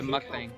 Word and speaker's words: mukbang: be on yeah like spelled like uh Muk like the Pokemon not like in the UK and then bong like Bang not like blonde yeah it's a mukbang what does it mean